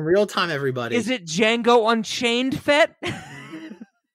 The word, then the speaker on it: Django: time everybody is it django unchained fit d is silent all right rob we're